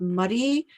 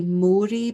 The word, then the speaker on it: Moray: And it's in the county, I guess you call it, of Murray, which is spelled Moray. So if you would possibly say Moray, but it's not. I would say Murray. It's Murray Council.